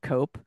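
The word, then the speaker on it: Koepp: written by David and Stephen cop I think is how you pronounce it and Stephen cop or cop what's the spelling c OE p p okay sounds like cope he was the editorinchief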